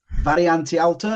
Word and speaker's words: Variante Alta: Variante Alta, is that right?